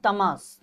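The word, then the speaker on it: Tahmasp: एच ए H Shah तमाश टी ए एच एम ए एस पी पी is generally silent in this name right okay the name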